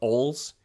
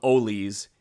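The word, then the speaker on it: Oles: last pack opening episode I said Saint Olaf OLS it's the Saint Olaf olies and I regret that error unfortunately I mispronounced their nickname our apologies to the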